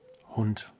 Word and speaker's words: Hund: Hund. Hund. Hund. Not Hund? Hund. Hund. Excuse me. You knew that one. Smart That one's detection. important. And the entire phrase would be, kann ich Ihren Hund streicheln?